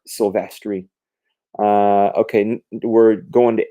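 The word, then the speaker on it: Silvestri: pronounce stuff right anyway I used to call him uh Mark silverry even though it's Mark sylvestri uh okay we're going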